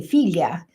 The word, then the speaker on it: figlia: word for daughter uh it's spelled fi g l i a and it's in in English it looks like figlia and they say filia and um but I